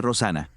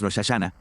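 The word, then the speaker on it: Rosh Hashanah: Y debo decir esto, cuando la gente estudia hebreo, sabe que se pronuncia correctamente Rosana, pero cuando yo era niño siempre decíamos Shashana, así que tengan paciencia hasta que llegue Rashana. A los pobres se les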